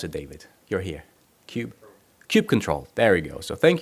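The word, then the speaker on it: kubectl: how do you call it how do you pronounce it David you're here Cube Cube control there we go so thank you David for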